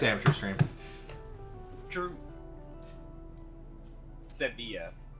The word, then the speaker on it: Sevilla: it's amateur stream true sevilla so pronounce the v but not the uh i ll okay but and then